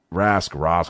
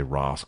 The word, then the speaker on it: Rask: Rask, however you want to pronounce his name. I always like to say Rask, the European way.